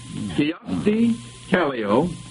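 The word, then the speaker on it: Kyösti Kallio: of a Japanese political party I'll repeat that kast Calo I'll spell that k y o s t i k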